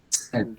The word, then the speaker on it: said: Listo, en este vamos a revisar la pronunciación porque hay un error muy común en pronunciación y es pronunciarla ahí, ¿listo? Este se va a pronunciar como cuando en español yo digo tengo sed. Entonces este verbo se va a pronunciar sed, ¿listo?